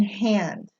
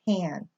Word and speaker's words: Han: okay so for example the last name h8n is pronounced Han never ever hand okay so Han Solo in Star Wars that is correctly pronounced just if you were Chinese okay oh all is